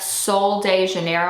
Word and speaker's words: Sol de Janeiro: used this brand before it's like Soul de Janeiro I believe is how you like truly pronounce the whole brand name and I saw the